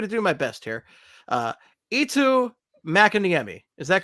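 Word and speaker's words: Eetu Mäkiniemi: Eetu Makiniemi. Is that correct? I believe that's right. Eetu Makiniemi.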